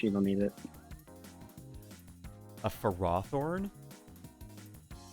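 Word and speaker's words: Ferrothorn: don't need it a for raw thorn snake that is the way you're supposed to pronounce it that is the dumbest way to pronounce the name why is it not pharaoh thorn we have ferromagnetic materials i don't tell you it's it that's the official way is for roththorn dude the official way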